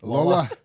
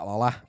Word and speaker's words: Lole: Lola. You gotta say it like Lole.